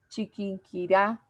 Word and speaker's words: Chiquinquirá: sílaba tónica por ejemplo cuando yo digo bogotá chiquinquirá la sílaba tónica es la que lleva la fuerza de acentuación yo lo digo bogotá